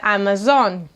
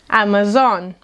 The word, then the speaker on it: Amazon: When you want to order something from this online store, you will order something from “ÁMAZÓNE”, “ÁMAZONE”.